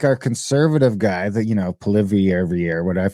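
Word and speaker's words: Poilievre: To the point where like our conservative guy that, Polivier every year, I always say it wrong because it's not Polivier. There's like a weird little thing on the end of it.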